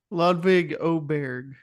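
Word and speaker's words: Ludvig Åberg: quick question Christian have we learned how to pronounce ludvig's name ludvig oberg there we go making progress on this podcast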